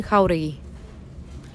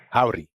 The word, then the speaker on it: Jauregui: All right, it's 3 syllables. Cody, bang it again if you would. My name is Jasmine Jauregui. My name is Jasmine Jauregui. I hear howdy for some reason, but maybe I'm... So, not to belabor it, but, you're just emphasizing the how. Mm-hmm. So that's the syllable you punch, Brucey.